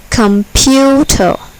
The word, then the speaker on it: computer: table is accented adjustable computer computer here the second syllable is accented computer ballistic ballistic here the